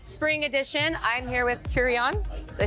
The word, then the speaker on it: Qrion: I'm here with Qrion. Did I say that correctly? Yes. There's been different kind of speculation about how to say your artist name. How do you say it correctly? Qrion.